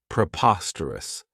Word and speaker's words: preposterous: This adjective has 4 syllables, and the stress is on that second syllable, preposterous. Remember that OS has that schwa, that sound.